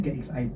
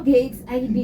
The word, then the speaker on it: GXID: Jadi kalau ditanya GXID apa, bacanya GXID ya Mbak. Oh, GXID, weh. GXID. Pokoknya Inggris punya ya, jangan baca menurut versi Indonesia ya.